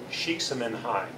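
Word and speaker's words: Csikszentmihalyi: going with that and the way that's pronounced is chic Simon hi and these two last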